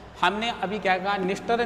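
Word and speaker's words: Dniester: निस्टर, नीपर और done, ये तीनों 3D के नाम से। डी यहाँ साइलेंट है, ध्यान रखिए आप।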